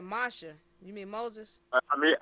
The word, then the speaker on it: Moshe: So Moshe and Joshua came and So who is that? presented. You said Moshe. You mean Moses? I mean to say Moses. That's how his name is pronounced in the Hebrew, but I should say